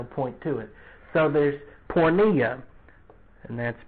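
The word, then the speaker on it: porneia: be really no point to it so there's pornea and that's p oh that light's bright rn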